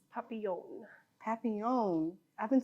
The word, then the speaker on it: Papillion: It's Papillion.